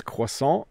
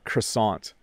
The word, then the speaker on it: croissant: to say croissant twice so it's croissant or croissant in English we do not pronounce that word properly so if I go